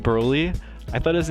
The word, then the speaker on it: Broly: Broly. You hear that? This is how you pronounce it.